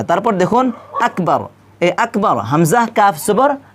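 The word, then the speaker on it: أكبر: বা র জবর বার আকবর নাকি এখানে আকবার আমরা অনেকেই ভুল করে থাকি এখানে কি বলি আকবার বলি তো এখানে আকবর বলা যাবে না এখানে কি বলতে হবে আকবার আকবর কাফটা কি করতে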